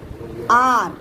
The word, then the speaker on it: hour: 1 घंटे को ऐसे, उसमें एच स्पेलिंग में शुरुआत में एच लिखते हैं, पर आपको एच का प्रोनाउंसिएशन नहीं करना है। आर क्या कहेंगे? अ का उच्चारण करके आर कहेंगे।